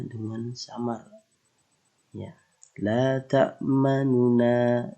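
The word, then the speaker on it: لَا تَأْمَنَّا: Ya, ini agak sedikit memoncongkan ya cara kita untuk mengucapkan bacaan isimam. La ta'manuna. Jadi setelah sukun itu terdapat domah ya. Jadi kita membacanya ada penekanan sedikit menjorok ke depan posisi bibir kita.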